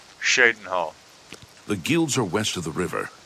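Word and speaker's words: Cheydinhal: You say Chadenhole when everyone else says Shadenhole.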